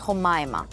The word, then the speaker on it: Humaima: pronounce it उमामा right no no know the name is उमामा we spell it with O बट इट इज हु मायमा याट्स हु मायमा I change the spelling